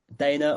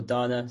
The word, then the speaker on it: Dana: Next, and I think last, we've got Dana or Dana. Sorry if I pronounced it wrong. Would you like to come in with your question? You were right the first time. My name is Dana, and I'm a very grateful recovering alcoholic.